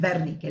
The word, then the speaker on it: Wernicke: Pero se pronuncia Wernicke, la W en alemán se pronuncia B corta, y la B corta se pronuncia F.